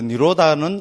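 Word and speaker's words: nirodha: D, D에 뭐 이런데 H 나온 거는 발음 안 해버리면 됩니다. 그 니로다. 이래 하면 됩니다.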